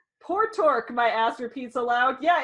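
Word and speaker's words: Portork: my name how about poor Tork poor I don't know if that's how you say it's pio RTO RK poor torque I would think it's port or a name port ork my ass repeats aloud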